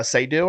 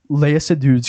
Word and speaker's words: Seydoux: And I love her, Leia Seydoux, I think is how you say her name.